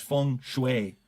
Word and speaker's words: feng shui: it correct leader so I looked it up and it is Fung Shui Fung Shui that's way